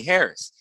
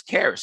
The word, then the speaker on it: Charis: So listen, I was talking to this guy and he kept calling me Charis. Then he was calling me Harris. But the H is silent. By the way, my name is Charis.